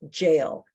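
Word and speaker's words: gaol: It's pronounced jail.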